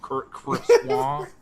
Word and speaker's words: croissant: Do you pronounce it croissant? I do, but I understand that it's probably more like croissant. Croissant.